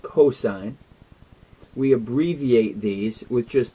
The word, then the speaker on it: cosine: There's another one called cosine. We abbreviate these with just three letters. So when you see S-I-N, it's not pronounced sin, it's pronounced sine. C-O-S, we pronounce that as cosine.